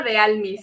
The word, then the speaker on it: Dealmy: bienvenida Hola Hola gracias por aceptar Cómo se pronuncia bien tu nombre no quiero equivocarme Cómo se escucha de almiz sí está perfecto me dijo América que digo